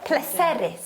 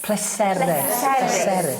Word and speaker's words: pleserus: Pleserus. Pleserus. Iawn. Yn Gymraeg, iawn, every 99.9, oh, dwi'n stiff I gyd. 99.9% of the words have the accent on the last syllable but one, iawn?